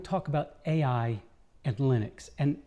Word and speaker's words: Linux: No, he didn't even think he said his name, but he said, "I pronounce Linux Linux."